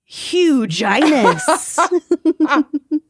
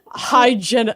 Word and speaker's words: Hyginus: Huginus. Huginus Aquinas. Vaginus. Dentitis. Rewindus. Rewindus. It's Hyginus. Hyginus. He was very clean. I like Hyginus.